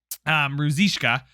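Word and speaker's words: Ružička: So I now know how to say his name correctly. Ruzishka.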